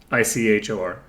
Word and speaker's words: ichor: Ichor. And it's pronounced like Igor in Young Frankenstein.